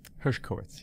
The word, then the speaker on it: Hershkowitz: let's see if I can even find the Hershkowitz Hershkowitz yeah Hershkowitz yeah okay re herskowitz and just